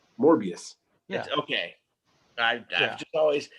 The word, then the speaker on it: Morbius: say how do you say it is it Mo morius I just say morbius morbius yeah okay I just always it was one